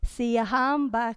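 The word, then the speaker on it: Siyahamba: So, the words are phonetically put up on the screen for you, and they go like this. Siahamba kukanyan kwenkos.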